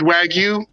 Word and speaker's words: wagyu: the wagyu beef burgers or why you beef how you pronounce it anyway wag you it's wagyu it's in my belly